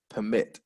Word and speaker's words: permit: permit driving license permit and permit is in the verb to allow someone to do something permit second syllable final tip that i